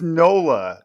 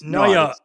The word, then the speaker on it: Noyo: I thought it was Nola, and I thought it was from New Orleans. It's Noya. Noya.